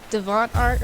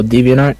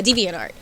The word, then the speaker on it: DeviantArt: gotten into what's that site called i never pronounced it right like the devon art or whatever it is oh deviantart yeah deviantart um i always wish that i had realized